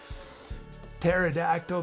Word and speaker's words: pterodactyl: how to say soldering pterodactyl the silent P maybe that should be